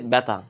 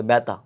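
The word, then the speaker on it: ব্যথা: যেমন ধরো আমরা যদি বলি ব্যাথা। ব্যাথা। ভেতা আমরা সাকারে দেওয়া লাগবে ব্যাথা।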